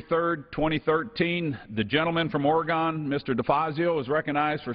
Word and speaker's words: Oregon: one minor Point uh we say Oregon and since the Ducks are going to win the national championship this year we want to make sure everybody knows how to say it properly thank you uh uh